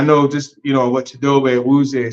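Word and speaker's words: Chidobe Awuzie: just you know what chidobe wer said as well well let's say his name chido aier we say it you know way he wants us to say it um him and and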